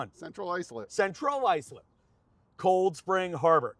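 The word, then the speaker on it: Central Islip: Carl Place, Cedarhurst, Center, Maritches, Centerport, Center Reach, Center Icelip, Cold Central. Got at least say it right. Which one? Central Icelip.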